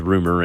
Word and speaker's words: Roemer: His name was Roemer, pronounced as Rumer in English, which sounds about the same to me, but what do I know?